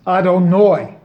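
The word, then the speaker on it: יהוה: It is not a fluke, but a purposeful occurrence, done on purpose, that the Yud He Vav He name is pronounced Adonai, which is the pronunciation of the Aleph Dalet Nun Yud name.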